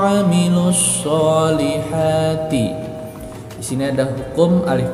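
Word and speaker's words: وَعَمِلُوا الصَّالِحَاتِ: Radadnahu asfala safilin illal ladzina amanu wa 'amilus sholihati.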